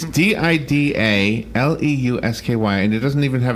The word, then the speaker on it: Didaleusky: Is in the studio, and Greg's name doesn't look like it's spelled Didaleusky. It's Didaleusky, and it doesn't even have his first name, so it's GL if you're looking it up on.